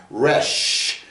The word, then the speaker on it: Resh: And the Resh is a dental, okay, because you use your teeth to make this sound, Resh.